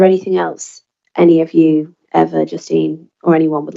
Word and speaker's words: Eva: Again, my name is Eva, pronounced like forever and ever.